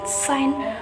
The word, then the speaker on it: sign: three the sine G the letter G will become a silent letter when there is an N after it in a word of for example design sign foreign compain number four the